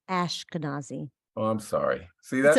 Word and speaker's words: Ashkenazi: um okay I need to learn how to pronounce uh your name Ashkenazi yes okay uh I used to be teased